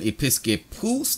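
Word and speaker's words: ἐπίσκοπος: There is the pronunciation, episkopos.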